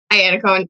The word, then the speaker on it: Iannacone: I'm so tempted to pronounce your name the Italian way, but I think you just say it Iannacone? Iannacone, yeah. Iannacone. I'm like, Iannacone. It's like the American version of, I know. That's the right way to say it, I think.